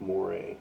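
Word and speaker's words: Moreh: So we'll say that we want to work with Moray, okay? And it's spelled M-O-R-E-H, okay? So it sounds like Moray, okay?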